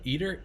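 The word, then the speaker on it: ITER: about it's a mammoth undertaking how do you spell it eater e-a-t-e-r oh uh i-t-e-r there you go yeah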